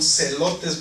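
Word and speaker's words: zelotes: se llaman en español celotes, pero se escribe con Z también. Celotes, con Z. Sí. Celotes, Como elotes. pero con la Z.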